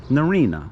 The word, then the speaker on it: Narryna: no okay i give up how do you pronounce that noreena narina norina narina norina narina and you are a